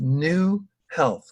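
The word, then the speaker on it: Knew Health: He is also founder of New Health, which is spelled K-N-E-W Health, a payer solution for chronic disease reversal.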